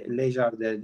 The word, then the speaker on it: Lagardère: Şimdi bu Belbek 2020 yılında doğmuş Belbek 2 yaşında yani 2022 yılında Prix Jean-Luc Lagardère yarışı, Lagardère diye okunuyor zannedersem.